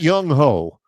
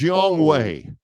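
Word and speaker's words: Younghoe: It's not Young Ho. His name is Yong Wei. Yong Wei Koo.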